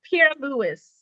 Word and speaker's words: Pierre-Louis: my family's trying to figure it out it's pierre lewis yes i was gonna say that's a french